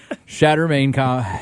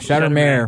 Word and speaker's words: Shattermare: these stories it's shatter shatter main shatter mayor there you go I do this